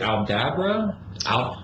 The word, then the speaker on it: Aldabra: Is it Aldabra? Is that the correct pronunciation?